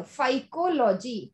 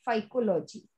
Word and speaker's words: phycology: Yes ma'am वही बोल रहा था, वो प्रोनाउंस करना है. चलो फाइकोलॉजी, PHYCOLOGY, फाइकोलॉजी.